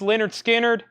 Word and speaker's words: Lynyrd Skynyrd: Lynyrd Skynyrd pronounced Leonard Skynyrd is at sixty dollars